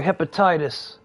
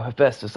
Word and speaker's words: Hephaestus: Alright, we're gonna take the war to destroy hepatitis. Wait, no, Hephaestus, I said it wrong.